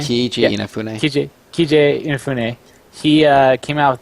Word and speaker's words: Keiji Inafune: So the creator of Mega Man, it's Keiji Ifune. Is that how you say his name? Keiji Inafune.